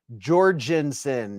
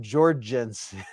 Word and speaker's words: Jorgensen: Zatikin said, hey, Beez, when you pronounce the G in Jorgensen, you use a soft G, the g sound, not the j, like gamer. J is not gamer. Gorgeous, gross, grass, grain, etc. Jorgensen, not Jorgensen.